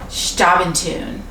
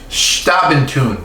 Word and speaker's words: Xtabentun: is going to be on a liqueur called stop in tune stop in tune with an X because any time you see